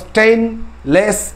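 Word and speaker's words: stainless: এই স্টেনলেস steel, যেটাকে আমরা বলি মরিচাবিহীন ইস্পাত, উচ্চারণটা দেখো স্টেইনলেস স্টিল।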